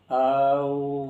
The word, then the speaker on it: ओम: और ओम का सही उच्चारण है, इसको बोलने के लिए औम औम औम औम औम औम औम औम औम।